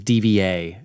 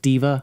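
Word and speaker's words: D.Va: like diva diva yep i thought it was dva is it pronounced diva yeah okay she's a cutie i'll stop it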